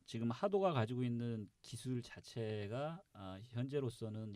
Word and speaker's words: XADO: 예, 그래서 이제 보통 영문으로 X 발음은 이제 그 S 발음이라든가 이제 J 발음을 많이 하는데 이제 러시아어에서 H 발음은 X 발음은 영문의 H 발음이 납니다.